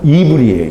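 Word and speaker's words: עברי: 히브리어 히브리어 그러는데 본래 그 히브리 사람들은 우리는 히브리 하는데 원래이 발음은 이불이에요 이불이 그 이불이라는 말이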